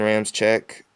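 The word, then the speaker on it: Ramczyk: role player on defense 20 Denver Broncos Ryan Rams check offensive tackle Wisconsin every single mock draft I see his name is mispronounce I made sure to get that pronunciation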